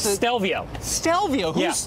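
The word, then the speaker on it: Stelvio: it's the Alfa Romeo what how do you pronounce this dalvio stell vo yes tell vo that's right al Trapani austell vo now here's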